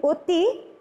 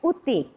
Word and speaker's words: অতি: আমরা যে বলি অতি, সেই জন্য অতি উচ্চারণটা শুদ্ধ নয়। এটার উচ্চারণটা হবে, শুদ্ধ উচ্চারণটা হবে উতি।